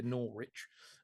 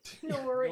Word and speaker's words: Norwich: Nor rich. Um, Norwich.